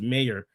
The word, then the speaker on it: Mayr: That's why she sweeps so hard and her last name is pronounced mayor.